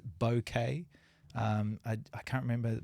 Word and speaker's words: bokeh: some people say uh boka some people say boket uh apparently the real the the the real way to say it the proper way to say it is bouquet um I I can't